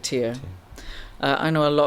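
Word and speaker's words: TYR: You know, last year I always thought it was Ty R, but apparently you do pronounce it tier.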